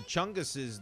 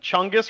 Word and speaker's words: Chungus: clear answer is that chungus rhymes with fungus and the the plural